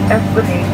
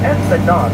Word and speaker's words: Esplanade: There are two ways to pronounce it: Esplanade that rhymes with lemonade, or Esplanade that rhymes with facade.